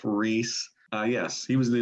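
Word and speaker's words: Rhys: new gods by gruff reese rice i'm not sure exactly how r-h-y-s i don't know how you say it reese yeah ref reese uh yes he was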